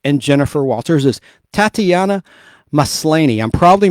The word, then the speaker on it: Maslany: So, the actress who plays She-Hulk and Jennifer Walters is Tatiana Maslany. I'm probably mispronouncing her last name, y'all. I'm sorry. I'll just spell it. Tatiana, Maslany.